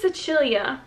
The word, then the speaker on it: Sicilia: But it's, I think it's Sicilia is how you say it in like Italian.